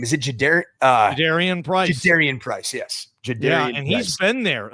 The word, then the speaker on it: Jadarian Price: Jadarian Price, yes.